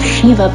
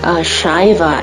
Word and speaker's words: Shiva: I'm correcting my pronunciation in this video. I made a mistake of calling this product Shiva in my previous video. Sorry about that. I've heard North American artists call it that way, probably because we tend